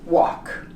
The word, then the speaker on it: walk: It's pronounced salmon in English. Salmon. Yoke and walk.